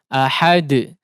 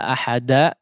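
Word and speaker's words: أحد: diperhatikan yang pertama adalah qalqalah tidak condong kepada salah satu harokat yang tiga ya. Tidak ahada, tidak seperti bunyi ahada, tidak seperti ahadi, tidak juga seperti ahadu ya.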